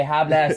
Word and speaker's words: hablas: I would say hablas inglés. Yes. Right. This I studied French also, school, but there must be a regular verb. Pro trick, H is not pronounced.